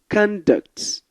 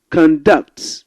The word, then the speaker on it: conduct: When you stress the first part of the word, conduct, it's a noun. Conducts, when you stress the second part, it's a verb.